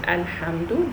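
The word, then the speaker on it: الحمد: Okay, so this circle on top of the lam in the word Alhamdu, this one is called sukoon. So I don't say la, li or lu. It is just l, l.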